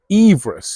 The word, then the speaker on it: Everest: Sir George Everest although but apparently he pronounced his surname Everest so maybe we should actually be calling it Mount Everest I think we should